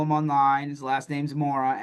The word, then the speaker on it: Mora: And Andrew, if you want to follow him online, his last name's Mora, Mora.